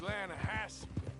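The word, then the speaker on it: Lannahechee: rode down to the Lana Hetchy River I caught some beautiful steelhead trout the Lana no no the Lana hacci it runs right near here yeah but it's pronounced Lana Hass why is everything in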